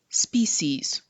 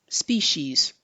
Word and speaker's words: species: This word actually has two different pronunciations. The first one, species, species, species. The second one, species, species, species. I prefer the first, but you can say either one.